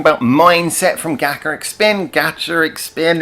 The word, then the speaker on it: GACHARIC SPIN: GACHARIC SPIN, it's like gacha machine.